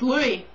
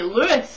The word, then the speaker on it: Louis: So I was like, it's Louis. So we stood. And he was like, no, Americans say Lewis. And I was like, no they don't, they say Louis.